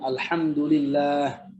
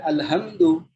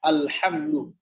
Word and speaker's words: alhamdulillah: Alhamdulillah, alhamdulillah, alhamdulillah. Bukan alhamdu, ya? Bukan alhamdu. Harus alhamdu, pakai ha.